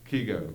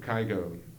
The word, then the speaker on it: Kygo: feel like i do with norwegian music producer kigo kygo it's spelled k-y-g-o uh the dance beat isn't too